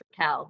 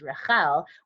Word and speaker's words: Rachael: as someone who so my name is spelled like Rachel but it's actually pronounced rakal because it's actually the hebrew pronunciation which is Rahel which when i say